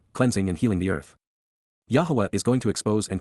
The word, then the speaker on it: Yahowah: showing what was wrong, Yahowah, the proper pronunciation of the name of Eloah, God as directed in his Torah, teaching.